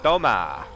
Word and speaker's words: toma: It's Tommo in the building. Yeah, actually the way to pronounce that in Spanish is Toma.